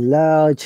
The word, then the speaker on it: large: independence kali has a large family uh here is one catch guys you know the word large why we don't pronounce r in british ipa uh please remember that